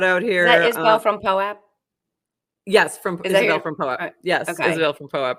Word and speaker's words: POAP: funny is we have someone in our chat trying to tell us poap rhymes with soap but guess what you're only in our chat and we get to talk talk so it's poap no it's not actually you're wrong I've actually had this